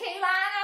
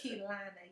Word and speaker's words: Keilana: I don't know where y'all see the other It's Keilana, yes. They want to use that I.